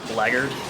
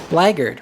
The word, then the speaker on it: blackguard: one thing i learned from this game is how to pronounce the word laggard laggard right blackguard i don't understand why that's the the way it's spelled oh i just got